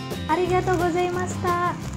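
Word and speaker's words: ありがとうございます: Dalam mengucapkan kata arigato, kamu ucapkan vokal O dari kata to satu ketuk lebih panjang. Nah, mari kita ucapkan bersama-sama. Arigato gozaimasu.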